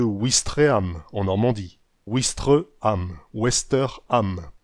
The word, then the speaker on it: Ouistreham: et parfois une voyelle dans certains endroits le w a disparu de l'écriture mais il est toujours prononcé comme un w nordique c'est le cas de ouistreham en normandie ouistreham wester